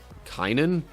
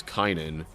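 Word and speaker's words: Cainan: Some Greek manuscripts read Arf Fox said Kanan Sheila Kynan Sheila. Anyway, the only difference there is this lacks Kynan. And yes, I'm pronouncing it that way because first off, that has an I in it. And second, that could get really confusing with Kanan.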